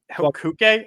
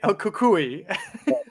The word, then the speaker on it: El Cucuy: El Cuque? El Cucuy. I know. I always say it wrong.